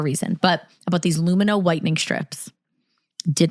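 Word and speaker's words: Lumineux: So, a while ago, Emily and I used Lumino. It looks like it's spelled Luminex, but it's Lumino.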